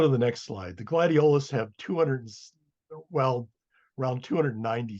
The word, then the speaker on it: gladiolus: And the other genus in the tribe is the gladiolus, which by the way I've never heard it pronounced gladiolus, which would be the third um, syllable from the end.